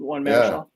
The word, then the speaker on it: Marichal: However you pronounce that? Marichal.